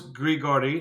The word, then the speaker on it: Grigory: Well, it was Grigory.